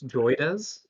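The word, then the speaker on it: JOIDES: So the the uh I I guess I pronounced it wrong to to start. It's Joyz. Okay.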